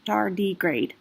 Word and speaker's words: tardigrade: bears of the moss the word tardigrade is from the latin for slow Walker and pronounced dar degrade purifies once an object